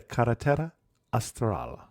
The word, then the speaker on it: Carretera Austral: talking about and I'm going to try and pronounce it the Kera astral the southern Highway that was good that was